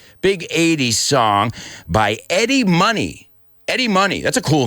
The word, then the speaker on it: Money: your name Eddie Money I hope you guys don't say mony are you are you those students that pronounce mony mony no you know how to pronounce honey right honey what bears like